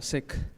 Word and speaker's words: Sikh: I pronounce it as Sikh, Sikh. that KH sound at the end.